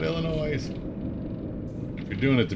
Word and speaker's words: Illinois: Please do not pronounce it Illinois. Yes is silent. Like Des Moines. There's an S at the end.